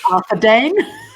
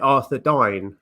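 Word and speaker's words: Arthedain: Arthur Dane. Arthur Dane. I pronounce it Arthur Dine. Arthur Dine. Yeah, I just which I think would be right, because it's like Dunedain.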